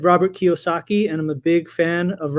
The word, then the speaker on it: Kiyosaki: So it's not exactly spelled how it sounds, but it sounds Japanese. It is Japanese. It's Kiyosaki. Okay, I would have gotten close.